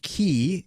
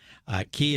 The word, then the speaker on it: Ki: Ki is a Japanese term. The Chinese pronunciation is chi.